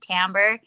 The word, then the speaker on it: timbre: side of San Antonio, my director said timbre. And I was like, well, why is it spelled like this? And he's like, trust me, I know what I'm talking about.